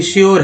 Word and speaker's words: sure: तो अभी श्योर है, श्योर कैसे लिखते हैं, इंश्योर है ना, श्योर है।